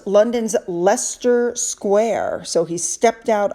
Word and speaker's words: Leicester: I believe it's pronounced London's Leicester Square.